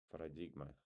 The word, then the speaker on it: paradigm: Paradigm. Paradigm. You don't you don't pronounce G, right?